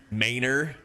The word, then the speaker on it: Manor: But in Texas, we have mayor, which is spelled ma n o r. Like manor, but it's manor.